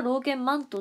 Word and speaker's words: 労研饅頭: よなんかあれお饅頭で普通は読むけどあれは労研饅頭って言うんですよふーんそうな